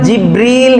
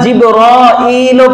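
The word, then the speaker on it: جبريل: আসুন আগে জিব্রাইল যে নামটা এই জিব্রাইল এই শব্দটাকে 10 ভাবে উচ্চারণ করা যায়। কোরআনুল কারীমে উনাকে জিবরীল হিসেবে বেশি উল্লেখ করেছেন জিবরলামিকাল আবার জিবল পড়া যায় আবার জাবলও বলা যায় জাবল বলা যায় এরকম কয়ভাবে বলা যায় আরো অনেকভাবে আছে এজন্য আল্লাহ পাক রাব্বুল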